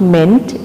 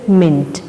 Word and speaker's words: ment: But remember children, the pronunciation of ment is not meant, it is mint.